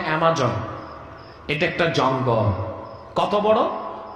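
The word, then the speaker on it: Amazon: আপনারা যেটাকে আমাজন বলেন, উচ্চারণটা অ্যামাজন।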